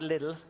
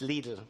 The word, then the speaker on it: Lidl: I'd like to thank Robert Ryan for now it's not little it's not lidle it's lidle rhymes with needle so I thank uh